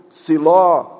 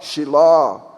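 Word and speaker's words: שילה: Tem muitas palavras na Bíblia, no português nós pronunciamos si, mas na verdade é shi, Saul, Shaul, Siló, Shiló, Beersheba, Beersheva, Betseba, Beersheva.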